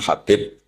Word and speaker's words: Habib: Ada yang nulis Abi Abdurrahman Habib Asulami. Itu di harakatnya kitab itu ada yang nulis Hubab. L yang benar. Oh nggih. Yang benar itu bacanya habib.